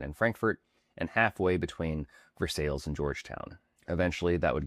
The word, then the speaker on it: Versailles: And then while the French palace is pronounced Versailles, local residents quickly adapted their own pronunciation, Versailles.